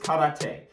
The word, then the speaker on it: karate: The first martial art you're going to need is karate or karate. First off, yes, I know it's pronounced karate, and I'll be trying to pronounce it as such, but if I slip,